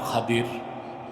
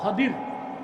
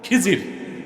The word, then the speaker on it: খাদির: নেককার বান্দা, তার নাম খাদির, যারে আপনারা বলেন খিজির। উচ্চারণটা কি? খাদির, বিফাতহিল খা ওয়া কাসরিদ দাদ, খাদির। আমাদের দেশের লোক বলে কি? খিজির। এটা ভুল উচ্চারণ, শুদ্ধ উচ্চারণ কি? খাদির।